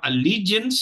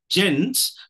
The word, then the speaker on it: allegiance: look at the thirds level so we have Allegiance here with the uh stress on the second syllable the second syllable carry is the primary stress okay so come to the third syllable gents and if you notice even when you look